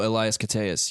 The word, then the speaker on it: Elias Koteas: Oh, Elias Koteas.